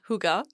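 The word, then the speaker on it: hygge: that Airbnb was quite Huger now hugar is a word that I love it's spelled h y g g e pronounced hugar and it's a Danish word and it roughly translates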